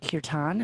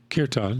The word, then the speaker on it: kirtan: too much about in the connect product correct pronunciation is kirtan am i right kirtan yes your time for people who maybe aren't